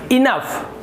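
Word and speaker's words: enough: रहा है आपको, तो यहाँ पर भी आपको फ उच्चारण करना है, फ। तो ये हो जाएगा आपका EN का इन, और यहाँ पे फ, तो ये हो गया इनफ।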